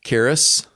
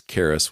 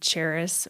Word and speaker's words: Karis: how to pronounce it it's Karis with a k sound rather than a CH sound what other names have you gone by in the past from mispronunciations uh the most common would be Charis or Charis Charisse was